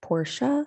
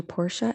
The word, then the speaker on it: Portia: about this i mean does ellen degeneres's wife portia spelled p-o-r-t-i-a get people misspelling her name and thinking her parents named her after a car and if so do porsha and ellen get wound up about it like